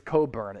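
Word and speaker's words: Cockburn: about chet holmgren and it is coburn it's not pronounced how it's spelled the real ones no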